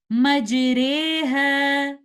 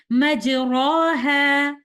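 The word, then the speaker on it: مَجْرٰىهَا: Majreha. We will pronounce the alif between the sound of an alif and ya, and we will pronounce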